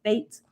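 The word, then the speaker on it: fete: this symbol right here fate is spelled f-e-t-e but it's pronounced fate like the fate of the world right this is this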